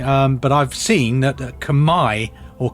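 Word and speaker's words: Khmer: chunk of hundreds of years the CH Empire kimer I would have said Kim normally um but I've seen that Kamai or k is the correct way of pronouncing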